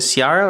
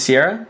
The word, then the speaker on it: Sierra: been like, is it Ciara or Sierra? I asked her yesterday, and then she said It's Sierra.